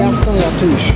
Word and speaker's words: Gaston Latouche: Gaston Latouche.